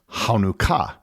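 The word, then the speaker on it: חנוכה: word in Hebrew is hanuka and I apologize for my pronunciation to any Hebrew speakers the first letter of the word in Hebrew is the letter Chet which doesn't easily translate into English as with other Hebrew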